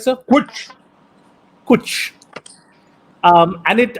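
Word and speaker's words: cwtch: and that word is coach which i think is spelled c-w-t-c-h is that correct sir kuch and it it's a lovely word it sounds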